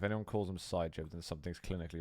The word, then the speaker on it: Psygib: The P is silent. Psygib. Psygib. Don't make me such happy little accidents. Hey, if you can play Quake like that, then all the power to you. It's not Psygib, okay? If anyone calls him Psygib,